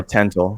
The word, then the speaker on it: Tental: Yeah, Tental. So it's like tentacle, but Tental.